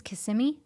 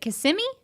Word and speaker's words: Kissimmee: little south of Kissimmee I think it's Kissimmee is it Kissimmee I think that's what it is right I don't know why